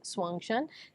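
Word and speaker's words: Xuanzang: characters have to be one has to be Swang Shan next is our uh vuan Empress vuan perfectly pronounced with both they the first interviewer that's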